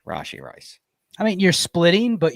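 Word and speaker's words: Rashee Rice: Or Rashi if you want to say his name correctly. Rashi Rice.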